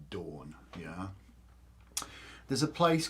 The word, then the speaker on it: don: or indo-european languages so dawn is spelt d-o-n in welsh but it's pronounced dawn yeah there's a place